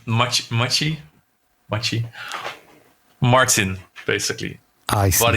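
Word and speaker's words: Maciej: No, it's Machi.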